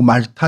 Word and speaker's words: 몰타: 그 저는 이제 몰타 공화국이라고 하는데 뭐 발음은 뭐 말타 이렇게 부르기도 하더라고요. 어, 위치는 지도를 첫 번째